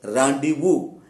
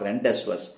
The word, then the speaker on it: rendezvous: it is in France in French language it is pronounced as Rendezvous it is not Rendezvous so don't say golden